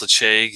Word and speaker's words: Ledaig: uh some of you might be familiar with leche i know it says l-e-d-a-i-g but it's pronounced lache and uh scottish gaelic and the actual distillery